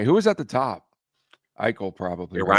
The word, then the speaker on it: Eichel: Eichel probably. It rhymes with Eel.